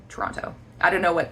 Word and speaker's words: Toronto: My understanding is that natives to Toronto will say Toronto, like they don't really pronounce the second T. I definitely do, so I say the first one, Toronto.